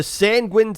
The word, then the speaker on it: Sanguine: Hats off to Sanguine Seas, pronounced like penguin, who went 6-0 per match, 18-0 per game.